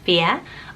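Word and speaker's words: Fiadh: meaning wild fear so it's spelled fi ADH but it's pronounced fear I loved that and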